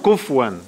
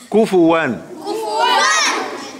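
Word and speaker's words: كفوا: Not kufwan. Kufuwan.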